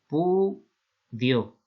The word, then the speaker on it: repudio: Entonces aquí hay dos cosas, que repudio se escribe así tal cual y no lleva tilde porque es una palabra llana, repudio, ¿vale? Esto sería la división en sílabas y no lleva tilde porque es una palabra llana acabada en vocal.